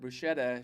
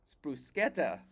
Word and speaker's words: bruschetta: And uh she finally told me because after she figured out what I was saying, so I had pronounced it bruschetta. She says brusqueta.